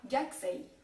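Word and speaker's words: gakusei: k t P S le u ne se prononcera quasiment pas comme dans par exemple si j'exaggère gakus qui se dira gxi en passant gxi ça veut dire étudiant et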